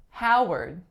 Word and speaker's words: Howard: one is Howard Howard this one is pretty tricky because there's nothing in the first syllable that indicates an ah sound but in this case the vowel au is represented by the letters O W the second syllable even